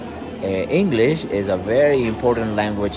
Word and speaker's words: inglés: Inglés, right? So Inglés means English, right? English. You say it. You say it like this, right? English. But in Spanish we don't say English. We say Inglés, right?